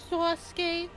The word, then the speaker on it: Sasuke: You don't put a lisp on it. You just keep the tone. Sasuke.